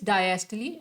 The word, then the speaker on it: diastole: Diastole. It's not diastole. That is a wrong pronunciation. Most of us pronounce it wrong. Therefore, it is diastole and systole because it is originated from Greek language. That is why their pronunciation is like that.